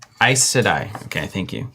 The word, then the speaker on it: Aes Sedai: Nathan Bradley's saying it's pronounced Aes Sedai. Aes Sedai.